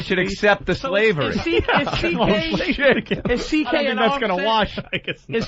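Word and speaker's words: C.K.: CK is just the first two letters of your whole last name. It's pronounced CK, but it's spelled much longer.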